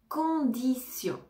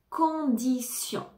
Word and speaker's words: condition: la fin compagnie compagnie condition condition condition ici le T se prononce comm un S condition condition condition correcte